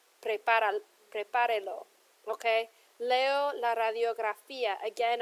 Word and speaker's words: Prepárelo: So when I add my lo here, it's added an extra syllable, and the stress would now be falling on the E. So to maintain where the original stress fell, I have to put an accent here.